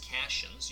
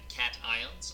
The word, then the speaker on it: cation: Now, please don't embarrass me at the dinner table and don't call these cations. You actually want to pronounce the word cat, and then you want to pronounce the word ion.